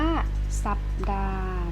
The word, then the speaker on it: สัปดาห์: 6-10 นะ คะ อ่ะ ข้อ 6 ก็ อ่าน ว่า สัปดาห์ นะ คะ หนัง หรือ อ่าน ออก หรือ เรียก อ่าน อีก อย่าง หนึ่ง ได้ คือ สัปปะหลาด แต่ เรา จะ ไม่ ยอม อ่าน แบบ นี้ เรา จะ นิยม อ่า นิยม อ่าน ว่า สัปดาห์ นะ คะ อ่ะ ไม่ ออก เสียง ตัว นี้ ค่ะ เรา ไป เข้า